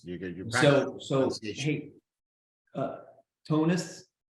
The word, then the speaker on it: Tonis: Tell everybody on Fright School how your names are properly pronounced. It's Canan. and Tonis. Canan. Yes. And Tonis. To what? Tuni? Do you say that? Do you say the S? Tunis.